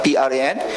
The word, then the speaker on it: Pran: Maybe Bangladesh can focus on, I saw they already have brand like Pran, right? How to pronounce? P-R-A-N?